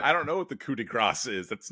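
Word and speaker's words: coup de grâce: I don't know what the coup de grace is. That's not a thing. You don't pronounce the S in that.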